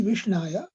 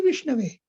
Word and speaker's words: विष्णवे: मूढ़ो वदति विष्णाय पंडित वदति विष्णवे उभौ तौ समम पुण्यम भावग्रही जनार्दन। ग्रामर के हिसाब से जब भगवान विष्णु को प्रणाम किया जाता है तो उसे विष्णवे कहा जाता है, सही उच्चारण ये है।